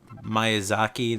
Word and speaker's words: Miyazaki: Which Ni no Kuni, you might remember because Studio, I'm going to probably say it wrong, Ghibli, the Miyazaki, that's how you say his name, the person who made Spirited Away, Kiki's Delivery Service, yada yada yada, that director.